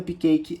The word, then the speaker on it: cupcake: sílaba onde não tem então o cupcake que ganhou duas sílabas que em inglês a gente não pronuncia ou seja o Cap e oq eles vão ter terminações mudas então não vou falar